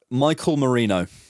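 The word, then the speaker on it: Mikel Merino: Michael Marino.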